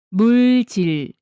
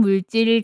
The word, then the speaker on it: 물질: 물질을 발음할 때는 물질이 아니라 뒤를 강하게 물질이라고 소리내야 진짜 한국어 발음이에요. 듣기 시험을 위해 꼭 기억하세요. 두 번째 단계는 문장 말하기 연습입니다. 소리내어 따라해 보세요. 첫 번째, 인화성 물질 경고판을 보면 여기는 위험해요.